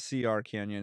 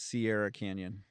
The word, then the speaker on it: Sierra Canyon: So not CR Canyon, it's Sierra Canyon.